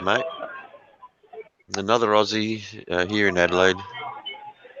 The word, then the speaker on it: Adelaide: Another Aussie here in Adelaide. Adeline, please say it right.